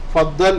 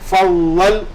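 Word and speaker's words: فضل: എന്നൊക്കെ ധ്വനിപ്പിക്കുന്ന പദമാണ് ഫളൽ ഫദൽ എന്ന് നമ്മൾ മലയാളത്തിൽ എഴുതുമ്പോൾ ഫളദൽ എന്ന് പറയും അറബിയിൽ ള എന്ന പദം നമ്മൾ പിന്നെ മലയാളത്തിൽ ഇല്ലാത്തതുകൊണ്ട് അറബിയിൽ അത് ശരിക്കും അതിന്റെ ഉച്ചാരണം ഫളൽ എന്നാണ് ഫളൽ ഓക്കേ പിന്നീട് നമ്മൾ പഠിച്ചത്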